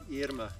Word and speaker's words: Irma: And it's pronounced like Irma, just Irma. Like in Spanish.